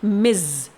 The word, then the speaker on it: Ms.: यहाँ पर इस टाइटल को हम प्रोनाउंस करते हैं मिज। जी हाँ, इसमें इज का साउंड आता है, इस बात को आपको ध्यान में रखना है।